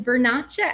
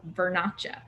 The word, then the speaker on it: Vernaccia: italian wines can get a little wild is vernacha actually technically means um kind of to come